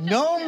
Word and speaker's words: gnome: Gnome Sweet Gnome. No. It's a new name I hadn't seen before. Nice. Gnome Sweet Gnome. All right. I go. The G in gnome is silent.